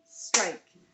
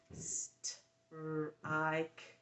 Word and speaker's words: strike: Why do we have a silent E? Remember rule 7. Let's go over all the rules real quick. It's been a while. Strike has a silent E because the vowel sound changes because of the E.